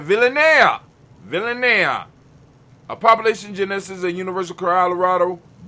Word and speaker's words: Villanea: Fernando Villanane. I'm going to say it right. Villanea.